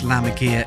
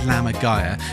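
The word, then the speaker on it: lammergeier: And yes, I know the normal way to pronounce Lamaga is Lamagaya, but I didn't know that at the time. And actually, I still think some people prefer to say Lamaga.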